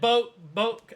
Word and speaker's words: Boke: he said Boke as in bone, I got it.